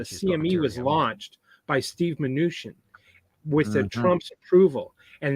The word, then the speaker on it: Mnuchin: And how do you pronounce his name? Mnuchin. Oh yeah, Mnuchin.